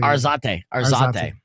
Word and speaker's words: Arzate: Arzate.